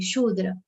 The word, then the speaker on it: Shudra: And the one which is around the around service is Shudra. The word should be pronounced very carefully, Shudra.